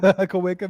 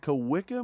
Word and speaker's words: Kawika: Kawika Mitchell.